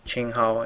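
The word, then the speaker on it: 青蒿: Sweet Annie is pronounced Qinghao in Chinese.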